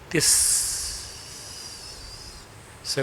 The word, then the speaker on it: तिस्स: उसकी स्पेलिंग थी तिस, से को लंबा खींचो, तिस। तिस्स था, वो तिस्स नाम था।